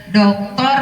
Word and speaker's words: Doktor: ada ice breaking saya Doktor bukan dokter bapak ibu ya Doktor kalau d-nya kapital itu Doktor dibacanya kalau dnya kecil dokter Doktor Doktor Dr William